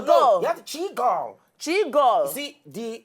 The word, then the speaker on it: Chigirl: Chigirl. You see, the pronunciation has to go down. Okay, Chigirl. It's like seagull. Hey, Chigirl.